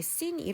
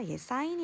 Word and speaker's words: sine: 영어 로 쓰여 있지만 , 촌 스럽게 " 죄 " 라고 읽지는 맙시다 . "sine" 으로 읽어야 합니다 .